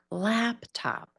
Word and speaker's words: laptop: We need a little bit more laptop. It's harder when we put these words with other words. More emphasis on that first syllable.